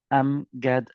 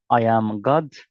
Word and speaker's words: Amgad: Am God. Some guys pronounce it as I am God. I am not God to be honest. Just to be honest. And angad. I am not angry.